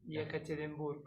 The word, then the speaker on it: Yekaterinburg: Yekaterinburg.